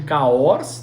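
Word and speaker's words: Cahors: acordou na região de cahos tá se escreve ch o RS carros né e ali é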